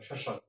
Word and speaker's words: শ্মশান: শ্মশান, শ্মশান, এই যে শটার পর জোর দেওয়া হয়েছে, স এখানে মফলা, আর এখানে কিছুই হবে না, অর্থাৎ মফলাটা বাদ যাবে, দন্ত হবে, শ্মশান।